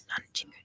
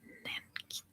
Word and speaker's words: Nanjing: Yeah, it was Nanjing, and now it's Nanking. No, the other way around. It used to be Nanking, and now it's Nanjing, because that's how it's actually pronounced.